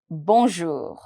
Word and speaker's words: bonjour: here bour bour o you is to be pronounced as o simple o bour my R is going to be very very mild it's going to be very light towards the end the pronunciation is not going to be too harsh but I'm trying to pronounce it from my throat here B bonjour bonjour bonjour